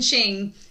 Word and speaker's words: Qing: y'all have clarified that the q in chinese is pronounced with a ch sound which my english tongue is trying to get used to because i see q on the screen but it's a chis sound i'm like language so